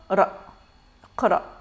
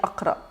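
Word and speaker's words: اقرأ: on n'a pas vocalisé parce qu'on ne va pas dire a, on ne va pas dire i, on va la prononcer brièvement. Donc on va dire iqra. Iqra. Donc on n'a pas dit iqra, on n'a pas dit aqra.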